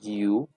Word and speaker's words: you: Entonces I, que significa yo, you, que significa usted, you, no se dice yo, se dice you, he, él, she, ella,